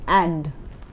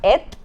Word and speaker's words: et: A, the pronunciation is not et, it's a, and viola, which means there is or there are.